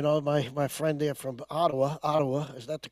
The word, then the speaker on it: Ottawa: You know, my friend there from Ottawa. Is that the correct pronunciation?